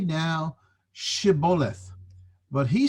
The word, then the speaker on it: Shibboleth: But the Ephraimites couldn't pronounce it Shibboleth, they pronounced it Sibboleth.